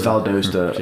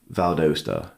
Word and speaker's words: Valdosta: yeah yeah so like nobody knows how to even pronounce valasta by the way it's Vala it's Valdosta a lot of them they're like where is Val DOA and I was like